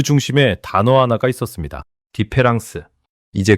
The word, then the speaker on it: différance: 디페랑스. 이제 그 비밀을 풀어 드리겠습니다. 프랑스어로 다음 차이를 뜻하는 단어는 디페란스입니다. 데리다는 가운데 철자 하나를 바꿨습니다.이를 A로. 그런데 놀라운 사실이 있습니다. 발음은 똑같습니다. 기로는 구별이 불가능합니다.